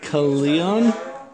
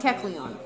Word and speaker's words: Kecleon: So this next one, let's try to pronounce this chameleon lizard thing. Keleon? No. Keleon? Kecleon.